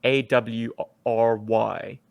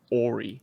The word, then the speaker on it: awry: harmer used uh awry a-w-r-y in one of the comic books and i always pronounced that ori ori oh our plans went awry yeah that's when things went